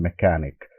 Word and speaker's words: mechanic: words: merchant, machine, and mechanic, because these are all the familiar words. You know, the here CH is giving three variations: k, ch, and sha.